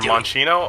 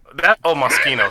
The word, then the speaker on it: Moschino: Moschino or Monchino. Oh no, oh there we go. Yep. Moschino. Moschino.